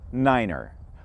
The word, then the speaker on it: niner: clarity over the radio nine is pronounced niner five should sound like five and three is articulated as tree altitudes ceiling heights and